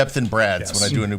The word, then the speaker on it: Brad: Think I say Brett, so I have to say Brad like Brad Pit all the time.